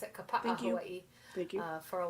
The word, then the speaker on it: Kapa'a: I grew up in the Twin Cities of Minnesota, and then lived in Kapa'a, is how you pronounce it, Kapa'a, Hawaii.